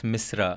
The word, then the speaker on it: Misra: it's not Mishra, it's Misra. It's Misra, correct. Yeah.